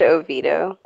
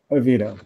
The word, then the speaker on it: Oviedo: a funnier story feminine so closely replicated in Oviedo Florida City northeast of all is pronounced Oviedo Oviedo really yeah it's a diamond so stupidity just